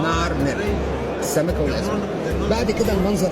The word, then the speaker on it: نعرمر: السمكه والازمين بتتنطق باللغه المصريه القديمه نعر مر، السمكه والازمين.